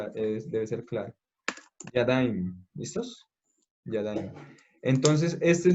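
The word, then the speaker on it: ידיים: Es que, igual que en el masculino, se agrega yod mem, pero con la diferencia que la letra de atrás se tiene que leer con una A, por eso está aquí este circulito aquí.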